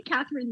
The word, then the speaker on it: Kathryn: that difficult but it's catherine and katherine is spelled k-a-t-h-r-y-n it's really weird spelling